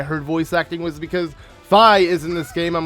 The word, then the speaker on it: Fi: And, well, everyone used to say Fi was pronounced Fee. And, well, you were wrong. I used to always pronounce it Fi from when Skyward Sword first came out. I got so many people trying to correct me. But then we got the woman's voice in these, little prologue, recap sessions that we're going to have in the beginning of every scenario. She pronounced, Fi's voice Fi.